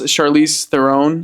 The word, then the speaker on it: Charlize Theron: Yes, Charlize Theron.